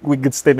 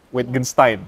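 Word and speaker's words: Wittgenstein: ya dia mengatakan bapak Ludwig wistein ini witgenstein sorry bacanya gitu ya the limit of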